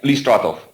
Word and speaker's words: Listratov: Did I pronounce that right? Yeah, Listratov. Listratov.